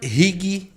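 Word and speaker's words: Righi: Rig, tá? Se lê como se escreve, tá? R-I, tá? G-H-I, tá? Rig.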